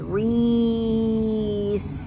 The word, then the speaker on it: Reese's: I heard a Z at the end. Now I know there's not a Z there because I know how to spell it, but you hear the Z and that's what you write.